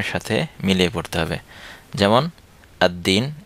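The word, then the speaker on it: الدين: মিলিয়ে পড়তে হবে যেমন আদ্দিন এ জায়গায় লাম উচ্চারণ হচ্ছে না আত্তাজিরু এ জায়গায় লাম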